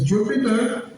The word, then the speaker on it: Jupyter: So Jupyter sounds like a planet, but is spelled Jupyper.